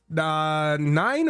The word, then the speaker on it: Nin: Is your your name is spelled n i n. You want to be called nin or nine?